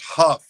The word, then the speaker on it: Hough: you pronounce it it's it's pronounced Huff hu FF like rough or tff okay see